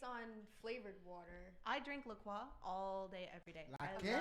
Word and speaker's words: LaCroix: Yeah, LaCroix.